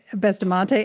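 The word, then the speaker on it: Bustamante: University College London Michelle bastamente have I pronounced your name correctly close bestamonte excellent natural resources defense Council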